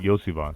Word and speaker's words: Iosivas: Andre Iosivas? Is that how you say his name? Yeah. Yosivas. Iosivas from Cincinnati, especially with Chase's one-game suspension, that is going to probably lose the appeal.